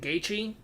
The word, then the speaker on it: Gaethje: Another person I chose to listen to, the last person on this one was I'm going to say his last name wrong, Justin Gaethje.